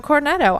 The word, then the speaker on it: cornetto: So, I was like, "Yeah, I'd like a cornetto." And she says, she looks at me and she has no idea what I'm saying. And I'm like, what? It's a cornetto.